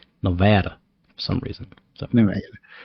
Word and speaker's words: Nevada: Nevada, which I used to pronounce as Nevada before I moved here because it is, you know, a Spanish word, but out here they don't they want to make it Nevada for some reason.